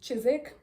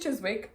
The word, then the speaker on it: Chiswick: things were you saying so for example chisik I was calling it Chiswick and I was like